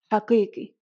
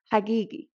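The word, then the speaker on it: حقيقي: Now the letter Qaf is originally pronounced as a Qa. For example, in the word haqiqi, bas. Some areas are going to pronounce it as a G, and therefore you can also transcribe it as a G, hagigi.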